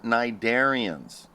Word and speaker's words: cnidarian: All right, so corals are cnidarians. And cnidarian is spelled just like it sounds, only it has a C at the beginning of it.